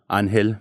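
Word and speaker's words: Ángel: um well I guess if you were to pronounce it in Spanish it'd be um anel that's pretty cool man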